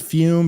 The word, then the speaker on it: Fum: show which is fume pronounced fume but spelled Fu M look cold turkey may